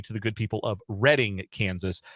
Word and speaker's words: Reading: the good people of Reading Kansas I thought in my head that it can't be the British pronunciation no it very much is and I apologize to